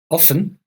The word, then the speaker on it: often: Often has two possible pronunciation in English, two ways of pronouncing often in English, both correct. You can say often, how often, or you can hear the T, how often, both correct.